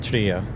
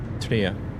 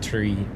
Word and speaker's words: Tria: It's actually pronounced Tria. Tria, not tree.